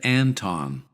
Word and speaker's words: Anton: First, a shout out to my friend Anton. Anton. Make sure to pronounce both vowels correctly.